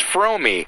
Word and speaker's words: Fromme: You know, I never hear anybody say your name right, and it is Fromme, like foam with an R and me, right?